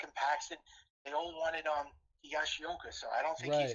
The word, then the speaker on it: Higashioka: Though Sanchez may have a battle though Sanchez may have to battle Kyle Higishiyawa. I can't never say his name right. For It's the all right. starting It's Kyle Higashioka.